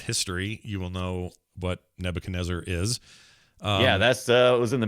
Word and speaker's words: Nebuchadnezzar: The game is Nebuchadnezzar. And good job. Yep. If you are familiar with history, you will know what Nebuchadnezzar is.